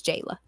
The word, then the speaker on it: Jayla: My It's actual name is Jayla. Okay, Two syllables as well.